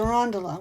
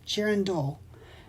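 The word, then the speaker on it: girandole: the name of it it's not it's a girand do g i r a n d o l e jiren do is how you say it so if you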